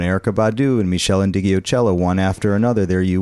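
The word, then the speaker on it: Ndegeocello: then d'angelo and erica badu and michelle and digiocello one after another there you were you said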